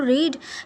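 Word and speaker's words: read: इफ यू हेड तू रीड he would है रेड ठीक है रीड की जो सेकंड और थर्ड फॉर्म होती है सिंपल स्पेलिंग तो वही होती है बस उसको पढ़ा जाता है रेड ठीक है इफ यू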